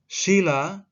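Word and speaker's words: śīla: sedih alas atau dasar sila dengan huruf i 2 bacaannya panjang artinya peraturan tingkah laku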